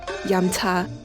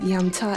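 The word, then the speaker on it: 飲茶: I never heard it in a Mandarin pronunciation, but I think the most common term may be yam cha.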